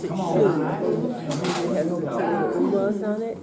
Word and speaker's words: schön: Thank you, yes, they pronounced it schön.